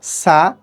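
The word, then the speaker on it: ث: বলতে হবে বা তেমনি তা সা উচ্চারণ করার সময় আমাদেরকে খেয়াল রাখতে হবে এটা যাতে বাংলা দন্তস্য সা ছ ছ এর মত না হয়ে যায় এটা উচ্চারণ করার নিয়ম হলো আমাদের জিওভার অগ্রভাগকে আমাদের উপরের উপরের যে দাঁত আছে উপরের দাঁতের সাথে লাগিয়ে আমরা উচ্চারণ করব সা এই জিম এই জিম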